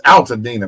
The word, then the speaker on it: Altadena: It's Altadena, man. Al. Like Al Blades, like Al Sharpton.